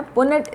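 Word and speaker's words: Punnett: में समझने के लिए, अदरवाइज इसका नाम है पुनेट स्क्वायर। क्या नाम है? पुनेट, PUNNET। आपकी बुक में स्पेलिंग दिया हुआ है, पुनेट स्क्वायर बोलते हैं इसको।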